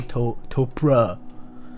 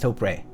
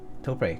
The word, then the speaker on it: Topre: I guess a lot of people actually do say Topra, but it's Topre. Topre, cause it's isn't it like Tokyo Press or something like that?